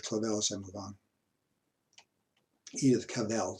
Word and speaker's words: Edith Cavell: Edith Cavell, say it right.